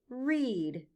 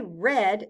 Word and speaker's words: read: Read is the past tense form of the verb read. So if we say read, the letters E-A stand for the short E sound, eh.